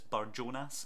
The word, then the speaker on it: Barjonas: go with Jamie, and I'm reliably informed that I should be pronouncing this Barjonas, so I'm going to go with Barjonas.